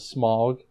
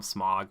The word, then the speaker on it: Smaug: We talked about his role as Smaug. Yeah. Or Smaug. Yeah, whatever. They say Smaug. I always wanted to call him Smog, but whatever. Yeah, with a American pronunciation, whatever.